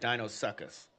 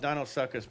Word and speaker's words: Deinosuchus: It's spelled Deinosuchus, but pronounced Deinosuchus. That's what I said.